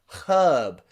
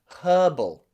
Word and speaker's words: herb: like herb and herbal i'm from the uk so you can hear me pronounce the letter h at the beginning of these words herb and herbal okay with a strong ha